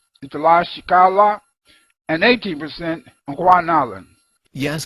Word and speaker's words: Tlaxcala: It is Oaxaca and it has 2.7%, not 27%. And it is Tlaxcala and Guanalan. Even I, with a robotic voice, can pronounce better than that.